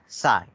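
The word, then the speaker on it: psi: हाउ इट is pronounce? P silent साई.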